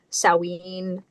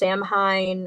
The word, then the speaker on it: Samhain: Um, in in uh I think in Scotland they pronounce it sawin. Um, in America it's pronounced samhine. A lot of people pronounce it samhine.